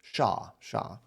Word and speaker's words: Shaw: And Shaw is sort of like Sean, but without the N sound at the end. Just like a long, oh, okay, thank you for that. It's like Shaw.